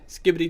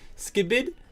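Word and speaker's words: Skibidi: Skippy toilet. Oh, actually, excuse me. Let me correctly pronounce this. Skiibid toilet.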